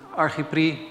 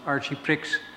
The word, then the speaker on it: Archiprix: Juan Pablo Corvalan was so nice to invite me for this presentation, and Archipri, or I think as you pronounce it, Archiprix, was so kind to sponsor my trip to Chile.